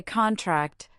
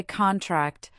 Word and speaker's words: contract: Say contract, the noun, and clap on con. Then say contract, the verb, and clap on tract.